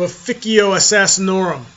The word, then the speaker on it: Assassinorum: Hey everybody, Last Outrider here with a new secret series for you on the fluff of Officio Assassinorum. Yes, it is pronounced Officio if you're speaking Latin.